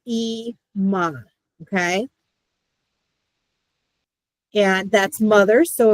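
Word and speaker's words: אמא: It's Ima. Okay. So the aleph makes no sound.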